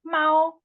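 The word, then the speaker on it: 猫: But it's pronounced Mao.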